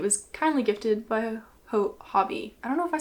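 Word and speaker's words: Hobbii: kindly gifted by a hobby I don't know if I said Hobie or hobby earlier I always I don't know why I say such wrong things such wrong pronunciations but it's Hobby and his friends caught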